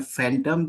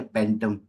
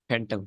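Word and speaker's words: phantom: फैंटम, कैसे pronounce करते हैं, फैंटम या पेंटम? फैंटम फैंटम। एफ की साउंड आएगी ना, पी एच। हाँ ठीक है। बिल्कुल ठीक है। बिल्कुल, एफ की थैंक साउंड लगी, फैंटम।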